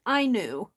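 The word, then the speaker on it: auni: very well uh is what I call that I knew Stitch it was really interesting kind of looking up the meaning it's spelled a-u-n-i but it's spelled it's pronounced I knew and that's Japanese um origin and then there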